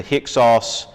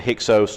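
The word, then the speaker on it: Hyksos: period this is when the hicks offs or the hexose depending on how you want to pronounce it invaders come in and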